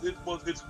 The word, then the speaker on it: Poitier: Yeah, it's Poitier is the proper pronunciation.